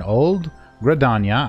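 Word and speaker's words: Old Gridania: We're in Old Gradania, I believe is how it's pronounced, at the amphitheater.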